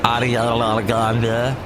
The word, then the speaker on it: Ariana Grande: Played the new Ariana Grande, and that's how you say it, Ariana Grande.